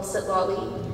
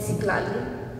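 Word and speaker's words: Citlali: I wrote about the struggle that I faced between being called Sitlali and Siklali, which is the correct pronunciation.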